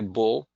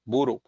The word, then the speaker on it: Bull: They don't say bull because they can't pronounce it, something ending in an L. They have a hard time pronouncing an L. So I became Buru.